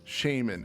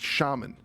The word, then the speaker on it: shaman: is when when it when people pronounce shaman as shaman and this is predominantly with the UK crowd. So I'm sorry to the UK listeners if I just you know blanket I don't care if you're from the Britain brush and just you know but uh it drives me up the wall because I'm like it's it's shaman.